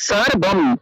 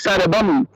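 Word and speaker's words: সর্বম্: আর এই ক্ষেত্রে সর্বম, সর্বম অর্থাৎ মটা আগের অক্ষরের সাথে একসাথে উচ্চারণ হয়ে গেল, সর্বম, সর্বম, সর্বম, সর্বম, এরকম।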